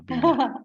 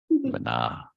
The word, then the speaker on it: Bina: said I attribute it to Bana, to Bina. Okay, good, good. See, it's Bina, Bina. Not Bana, Bina. Yes. Bina. Yeah, Bina. Yeah. Bana.